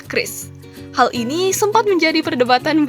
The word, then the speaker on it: QRIS: atau biasa disingkat Kris itu dibacanya Kris bukan curis? Dilansir dari website resmi Bank Indonesia, Bank Indonesia tegaskan cara baca QRIS yang benar adalah Chris.